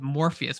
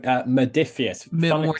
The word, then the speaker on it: Modiphius: I keep wanting to say it Morpheus, but it's not. There's an R in there, right? It's like Oh, Modiphius.